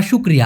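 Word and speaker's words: syukur: আরেকটা হল কৃতজ্ঞতা বা শুকরিয়া আল্লাহর প্রতি শুকরিয়া করা যেমন এটাকে মালয়েশিয়ান ভাষায় বলা হয় শুকুর স উচ্চারণ হবে না হবে শুকুর শুকুর আলহামদুলিল্লাহ শুকুর আলহামদুলিল্লাহ আলহামদুলিল্লাহ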